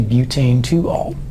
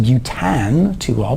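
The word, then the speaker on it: butan-2-ol: on a four carbon chain then it's a butane to all and I know that it looks like it should be pronounced Butte an to all but it's a butane to all because that's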